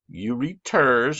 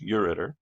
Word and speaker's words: ureter: all i'm giving you on urinary is kidneys you read ters i'm pronouncing it wrong so you'll spell it right it's pronounced ureter and then bladder and then you read the